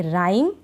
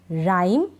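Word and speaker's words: rhyme: को हम नहीं पढ़ेंगे शुरू में आर एच है इसमें भी हम एच को नहीं पढ़ेंगे इसको पढ़ेंगे राइम क्या राइम एच नहीं पढ़ रहे ह का साउंड नहीं आ रहा राइम और इसको पढ़ेंगे रिदम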